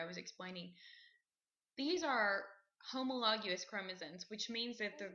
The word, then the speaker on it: homologous: that what I um habit I have is to pronounce um homologous chromosomes as homologous so just FYI they're pronounced homologous um but anyway a